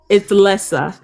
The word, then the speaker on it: Lessa: It's actually so simple, and it rhymes with Lexi a little bit.